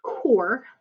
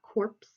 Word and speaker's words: Corps: the Peace Corps and it's pronounced core not corpse okay a corpse is